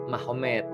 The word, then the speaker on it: Magomed: Jadi tulisnya Magomed, tapi bacanya Mahomet, kan gitu kan ya.